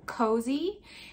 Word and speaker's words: Kosei: this new company and it's called cozy and that's spelled k-o-s-e-i and i'll put their